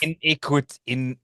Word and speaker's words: Iniquitous: iniquitous Iniquitous.